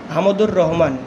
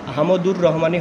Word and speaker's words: হামদুর রহমান: শরীফ শিক্ষা কমিশনের বিরুদ্ধে 1964 সালে হামদুর রহমান শিক্ষা কমিশন গঠন করে। বানানটা কিন্তু হামদুর রহমানই হবে, হামিদুর রহমান হবে না, এটা হবে হামদুর রহমান।